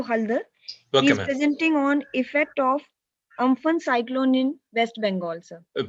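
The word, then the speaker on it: Amphan: helping hand of social media Super Cyclone aan pronounced for uman over West Central and adjoining It Center B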